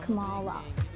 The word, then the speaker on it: Kamala: I've been meaning to tell you for years, my name is pronounced Kamala. Yes!